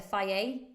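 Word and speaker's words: Fage: much protein in so Greek yogurt like the fire or it's spelled f-a-g-e fire yoga it's great with some berries you could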